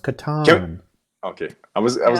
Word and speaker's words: Catan: how do you pronounce it he said it's pronounced katan okay i was i was gonna guess that's